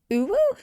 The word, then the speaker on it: Uhu: be using today is Uhu glue. Although a friend of mine told me it's pronounced Uwu, but I think they were just messing with me. I don't think that's actually right.